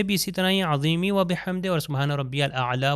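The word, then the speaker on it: وبحمده: اب میں تلفظ کرتا ہوں آپ دیکھیے سبحان ربی العظیم و بحمدہ دی دیکھیے آخر میں ہے کی آواز. اگر میں کہوں و بحمدی تو اس کا مطلب ہے کہ آواز نہیں آئی.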